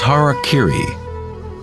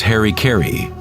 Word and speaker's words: harakiri: suicide or seppuku was harakiri was often mispronounced as Harry Carey it means to impale